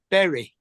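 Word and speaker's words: Bury: is weird we have a town called Berry which is spelled b why that sounds normal Barry yeah I'm going put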